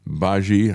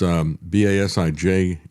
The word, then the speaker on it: Basij: And then the IRGC and the Basij, I guess is how you pronounce it, BASIJ, then take on a deeper role in the next stage of conflict.